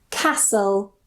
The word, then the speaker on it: castle: Usually, we don't pronounce the T. For example, nestle, thistle, castle, or castle, wrestle.